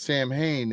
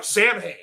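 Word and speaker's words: Samhain: It's pronounced Sam Hayne if you're talking about the band.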